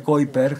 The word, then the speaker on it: Kuiper: delgadito es el llamado el cinturón de kiper se escribe kuiper y aquí tenemos la